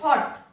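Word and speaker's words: thought: क्योंकि यहां पर एक वाउल है, थॉट।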